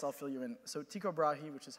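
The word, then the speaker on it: Tycho Brahe: for everybody else I'll fill you in so Tico brahi which is how I like to pronounce it was a 16th century Danish Aristocrat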